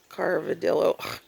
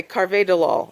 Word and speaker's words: carvedilol: I was taking now I'm taking carva Dil Carvedilol sorry anyway Carvedilol I think is how you say it um